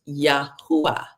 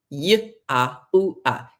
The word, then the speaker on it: Yahuwah: Those letters are pronounced Yahuwah. The first letter is a Yod. It's pronounced Y. The second is a Hey. It's pronounced Ah. The third letter is a Ua. It's pronounced Yod, Hey, Ua, Hey. That's how it's pronounced.